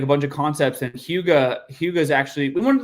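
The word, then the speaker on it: hygge: It's pronounced huga and no one would pronounce h y g huga.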